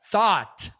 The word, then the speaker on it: thought: final sempre tive problemas não é a diferença não está no t no final a diferença está na na abertura da vogal Olha só thought a a a a